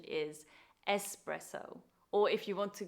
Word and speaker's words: espresso: sadly I have heard in England people say espresso which must really hurt Italians ears because the correct pronunciation is espresso or if you want to give it an